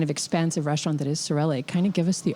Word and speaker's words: Sorelle: Yes, Sorelle.